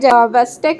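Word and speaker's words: Chvostek: हमें देखने को मिलेंगे वेस्टेक साइन यहां पर सीच जो होता है वो साइलेंट होता है तो इसे वक साइन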